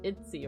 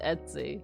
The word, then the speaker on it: Etsy: Etsy it Etsy no it's not like itsy right Etsy do they have a pronunciation on how this word is pronounced how do you pronounce let's see people have the same question Etsy Etsy so it is Etsy oh see I hate